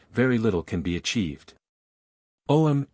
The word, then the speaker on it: Om: Om is, of course, Aum, that may be pronounced as 2, 3 or 7 syllables, setting up different vibrations.